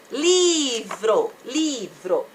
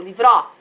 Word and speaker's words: livro: Livro. Ou livró. Gente, abre o livró. Ninguém fala livró. Todo mundo fala livro.